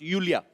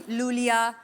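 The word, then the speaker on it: Iulia: pronounce Yulia. Yulia. And the spellings are I-U-L-I-A. So I Thank क्यों God you मतलब? know. I mean, why I? Thank God. Everyone is calling me Lulia, Lolia.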